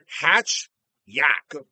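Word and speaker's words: Hatchiyack: It's called Hajak. All right, which is pronounced Hatch Yak. But the way they say it sounds like there's a J in it.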